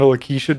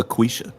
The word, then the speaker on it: Laquisha: Submitting 17 versions of Roshanda Lakeisha to every username Ted has to. You're saying it wrong. It's Roshanda Laquisha. It's like a quiche, all right.